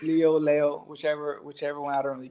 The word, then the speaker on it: Leo: Like, you know, it's like Lee, but they wanted to make it more Spanish, so it's like Leo. And so not Leal, like some of these people. I heard people butcher the name Leal. No, Angelo Leo. It's not Leal. It's Leo, whichever one.